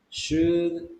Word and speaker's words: should: Maybe we should talk about that in the next meeting. Okay, good. Just the pronunciation. It is should, should. It's like the letter U.